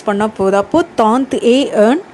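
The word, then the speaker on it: trente et un: ஸோ அதனால தான் ஒரு தடவை ஏ அப்படின்னு ப்ரொனவுன்ஸ் பண்ணால் போதும். அப்போது தாந்த் ஏ ஏர்ன்.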